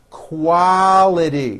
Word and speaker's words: quality: Your tongue should come up slowly for the L. Quality.